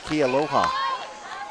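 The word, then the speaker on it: Kealoha: can hit home runs maybe it should be Kia aloha it's spelled a-a-a-l-o-a it's k-e-a-l-o-e so you got Aloha at the end yep goodbye baseball that's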